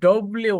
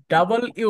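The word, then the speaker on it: W: অনেকটাই সুন্দর সুন্দর হয়েছে কিন্তু ডব্লিউ না ডাবল ইউ বলেন অন্তত ডাবল ইউ ডাবল ইউ ঠিক আছে আমরা লাল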